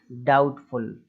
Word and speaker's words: doubtful: बी यदि टी के पहले आता है तो जो बी है वो साइलेंट हो जाता है, इस चीज़ को ध्यान रखें। अब नेक्स्ट है डाउटफुल, डिक्शनरी में ये वर्ड भर भर के दिए